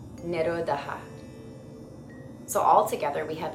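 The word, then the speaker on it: निरोध: Vritti, vritti, nirodha, nirodha, nirodha.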